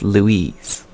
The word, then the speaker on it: Louis: I'm going to say St. Louis because that's how they say it in French for sure. It's not Louis, it's Louise.